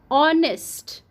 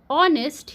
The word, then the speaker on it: honest: vowel bird also you honest honest here H is silent so here o is